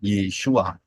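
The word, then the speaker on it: ישוע: pintu keselamatan yaitu melalui Yod Shin wau Ain bacanya yesua karena siapa berseru Siapa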